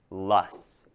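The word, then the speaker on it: loess: Les SS pronounced lust.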